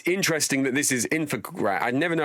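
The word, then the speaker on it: Infogrames: It's interesting that this is Infogram. I never know how you pronounce this. Is it Infograms? Infograms, yeah.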